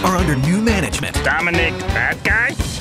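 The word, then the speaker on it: Badguy: under new management Dominic bad-guy pronounced babji's French French with a new mission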